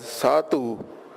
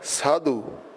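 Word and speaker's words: ਸਾਧੂ: in ban or sadu note that we're not pronouncing this as satu but sadu papa will give the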